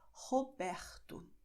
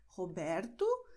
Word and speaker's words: Roberto: do Brasil vão pronunciar Roberto, ok? Por quê? Porque a letra R está diante de uma consoante. Mesma coisa que aconteceu com Marcos, ok? Você pode pronunciar Marcos, Roberto, mas também você pode pronunciar Marcos, Roberto, ok?